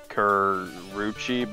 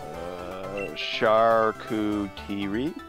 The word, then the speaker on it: charcuterie: Did you hear about this Twitter controversy about the person who posted their lunch that's on a Karuchi board?